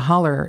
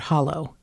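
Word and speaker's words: hollow: to speak loudly but a holler is a mispronunciation of the word hallo which means like a ditch he would say like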